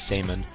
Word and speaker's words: Samon: just easier to remember, but his name is Samon, S-A-M-O-N. But Samon, who is now the new leader of the Kasarabi clan, technically, he's talking about they're protected, they're in this barrier, so Natsumore and Samon are protected, so Yoshino and Muaharu can't find them.